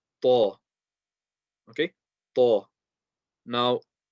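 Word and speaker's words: ط: And this one is called ta. Okay, ta. Now, it's a heavy letter. That means we're going to put pressure on the makhraj, raise the back end of the tongue, slowly release, round the mouth.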